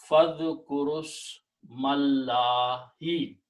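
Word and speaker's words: فاذكروا اسم الله: We drop the sound of all of them and we combine this ra with the sin. Fadh ku rus mallahi.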